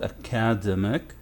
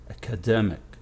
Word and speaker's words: academic: before the last one so this word is not academic no it's academic this is the syllable that receives the stress so now how to